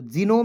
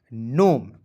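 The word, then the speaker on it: gnome: जी एन ओ एम ई तो जीनोम नहीं पढ़िएगा जी को साइलेंट कीजिएगा एन ओ एम ई को पढ़ेंगे नोम।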